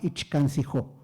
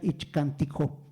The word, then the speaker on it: Ichcantijó: prehispánica que se llamaba Ichcancijó. Hoy en día se debe pronunciar Ichcantijó, porque ya cambió, ya se descubrieron los glifos que dan el nombre correcto, ¿no?